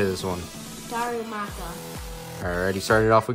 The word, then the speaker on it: Darumaka: Charizard Colin how do you say this one Darumaka all righty started off we got a Darumaka